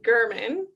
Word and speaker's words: Gherman: Because I think I pronounced your last name incorrectly. Oh, it happens all the time. My name's Gherman.